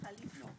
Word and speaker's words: Jalisco: Isn't there a Callisto, Spain? Jalisco. Jalisco.